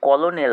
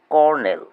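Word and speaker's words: colonel: comfortable vegetable business Wednesday C ও এল ও এনই এল এটি কলোনেল হবে না এর উচ্চারণ হবে কর্নেল স্ট্রেস বা শব্দে জোর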